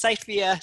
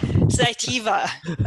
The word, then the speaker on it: Cytiva: specialist from Cytiva, and am I pronounced Cytiva? No, yes, Cytiva. David. Cytiva. Yeah, that's right.